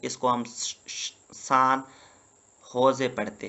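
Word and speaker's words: San José: 20 41 पे कोस्ट स्टाका इसका कैपिटल है सान होजे ये जे को एच पढ़ते हैं स्पेनिश लैंग्वेज में ठीक है ना सो इसको हम सान होजे पढ़ते हैं ठीक है ना नेक्स्ट है कोटे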